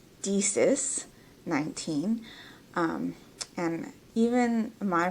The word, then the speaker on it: DiSis19: you to say, that's great, but it is Deesis19. But Disis19 would be a preferred pronunciation.